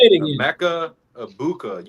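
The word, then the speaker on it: Egbuka: Mecca Ibuka. You don't pronounce the G.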